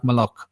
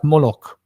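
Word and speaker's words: Moloch: So, there were Hebrew people that were pronouncing this word like malok. There were Hebrew people who were pronouncing this world like moolok. There were Hebrew people pronouncing this word like molec. So they chose malik to distance himself from the word moolok because they don't want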